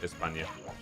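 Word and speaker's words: España: Espa, even though it's not pronounced Espa because we don't pronounce the S with a lisp. It's a very common misconception. Um, actually, we only pronounce the C's and Z's with the lisp. So, Espa is actually still just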